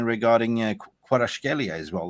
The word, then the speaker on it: Kvaratskhelia: Yeah, but I'll take Kvaratskhelia. That's how you say his name. Kvaratskhelia, I think.